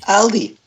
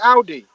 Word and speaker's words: Aldi: How do you say it? Aldi. Aldi. Yeah. There you go. ALDI. It's not hard. Oh, well, it's different down London. We call it Audi.